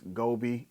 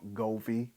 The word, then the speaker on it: Govee: all everything since there's GOI I mean I'm sorry I pronounced it wrong goie since pretty much it's